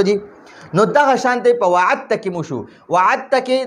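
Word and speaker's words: وَعَدْتَّ: نو ګورئ دا موږ سره ویلی کېږي داسې وعدته، وعدته ویل کېږي داسې، خو لیکلی کېږي به داسې وعد او دا تا به مشدد شي وعدته. خو دا دال به نه ویل کېږي، په تلفظ کې به دا دال نه ویل کېږي.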